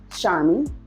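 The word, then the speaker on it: Sharmie: Charmy is phonetically pronounced Char and me, but it's spelled SHARM as in Michael, IE.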